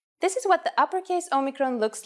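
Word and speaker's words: όμικρον: This is a vowel called omicron, which makes the sound O.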